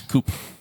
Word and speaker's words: coup: It's No, a different silent letter. It's coup.